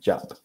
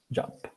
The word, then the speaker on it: job: What was your first, recuerden la pronunciación, first job? Este también se pronuncia con una A chiquita, job, no yo, ya, job.